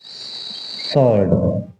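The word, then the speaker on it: sword: seven वर्ड है सल्ड सड में डब्लू साइलेंट रहता है इसको बोलेंगे सर्ड और इसका मतलब होता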